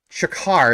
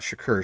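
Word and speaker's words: Chakar: Nadine Shakar, I said it right this time, not Shakur.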